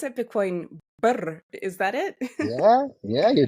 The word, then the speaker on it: Birr: And how do I pronounce it? Bitcoin Birr.